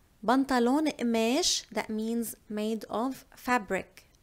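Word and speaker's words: قماش: And as you know, in Lebanese, mostly we do not pronounce the letter qa. So we do not say the qaf letter. We swap it for the glottal stop. So we say mesh, mesh, otun.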